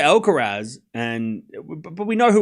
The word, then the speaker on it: Alcaraz: So I say Alcarez and but we know who we're talking about. You know, I feel like you could say it both and it's not you can say both you can say it both ways.